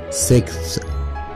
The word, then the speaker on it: sixth: number 16 سادس مش sixes, نطقها sixth, sixth, sixth, th في نهاية الكلمة ننطقها ف, ف, sixth.